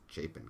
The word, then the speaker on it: Chapin: I hear him saying, white male from 5 Chapin Court. I'm like, it's pronounced Chapin Court.